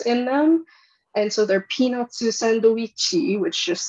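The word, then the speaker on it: ピーナッツサンドイッチ: And so they're peanutsu sandoichi, which just sounds like I'm making fun of Japanese, but I swear that's how it's actually pronounced.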